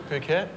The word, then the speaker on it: Phuket: there is a small island spelled p-h-u-k-e-t how do you say that island yeah phuket phuket is correct that's a goal of